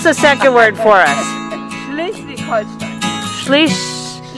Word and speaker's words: Schleswig-Holstein: Pronounce the second word for us. Schleswig-Holstein. Schleswig-Holstein.